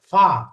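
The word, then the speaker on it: ف: এরপরে ফা, ফায়ের উচ্চারণ কি? ঠোঁট, অর্থাৎ উপরের জায়গা নিচের ঠোঁটের মাঝখানে লাগবে। উপরের দাঁত, দাঁতের আগা নিচের ঠোঁটের মাঝখানে।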